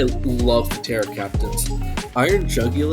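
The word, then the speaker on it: Jugulis: the teror captains iron jugul or julus however you pronounce it I've heard it both ways um insane mon julus is incorrect just just to be clear jugul is a real word so thank you I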